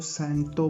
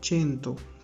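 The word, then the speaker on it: cento: इसको आपने ना तो सेंटो पढ़ना है ना कुछ और पढ़ना है, ये वर्ड है चेंतो, ठीक है। बिकॉज आप इटालियन सीख लिए हैं तो इटालियन की तरह ही आप इसे उसी की तरह प्रोनाउंस करेंगे, ठीक है।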